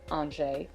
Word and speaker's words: Angers: I had named my dog Angers, pronounced Angers, which means angel in French.